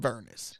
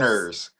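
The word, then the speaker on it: Vernors: It's like when you're sick, just have some Vernus.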